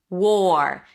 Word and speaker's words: war: Here you start with the W sound. Then again we have the or as in for war. Make sure you drop the tongue after the W. So it doesn't sound like war were were right. War. War.